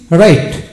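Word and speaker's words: right: থাকলে জি এইচ জি বা জি এইচ এর উচ্চারণ হয় না যেমন আর আই জি এইচ টি রাইট রাইট যেমন এখানে ব্রাইট টাইট ট্রুথ হাই কট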